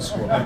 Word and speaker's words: Sqrrl: products for squirrel uh we're startups so we couldn't afford the vowels but that's pronounced squirrel some of you if